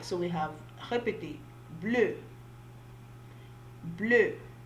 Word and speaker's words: bleu: All right, so we have répétez, bleu, bleu. For blue, they both the masculine and feminine are pronounced alike. They have the same pronunciation.